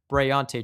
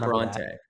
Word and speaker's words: Bryante: So last year he went by Tay Johnson. This year he's going by Bryante Johnson. So make sure everyone that you not Bronte.